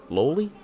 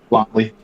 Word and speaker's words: loli: Lowly is I hope that's how you say it. Lolli. Oh, Lolli cuz like Lollipop. Got it. Lolly characters.